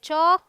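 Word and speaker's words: chalk: All right, ये है चॉक, वॉक, folk, could, should, योक, ठीक है। चलिए, एम के उच्चारण के नियम में क्या है, एम का उच्चारण जो है म होता है, प्रिटी सिंपल।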